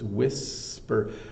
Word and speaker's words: whisper: with this is the the H here has no business being there it's wi wh so there's no sound made by this age so it's whisper and they were having